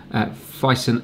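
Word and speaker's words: Phison: I thought it was Filson, it's Fison.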